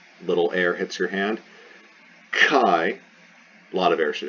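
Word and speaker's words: χ: where they got chi kai i transliterate this as uh because i don't like c i like uh k h uh it is like the ch in chorus not cha but k so it's kappa that's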